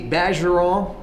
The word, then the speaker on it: Bergeron: LSU Tiger Park with bajaron right yes sir not Burge bon bon yeah see I'm from